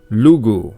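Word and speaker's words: Lugh: But in modern Irish, Lug is pronounced simply Lu.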